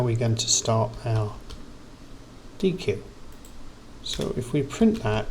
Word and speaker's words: deque: So we can use the double-ended queue, pronounced deque, taking elements off the front, which is the crucial point, so we can implement the queue in Python.